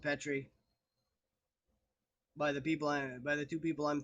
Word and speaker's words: Petrie: Because word pronunciation, I mean, I'm okay with, because there's a couple people refer to me as Petri and it's Petri, but eh, there's only